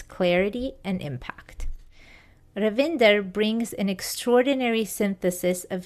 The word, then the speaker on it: Ravinder: I'm very much looking forward to the interview and I really appreciate the fact that you're pronouncing my name totally perfectly Indian style.